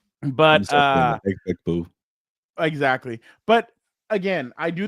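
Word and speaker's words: Emeka Egbuka: Emeka Egbegboo. Egbegboo. But Egbegboo.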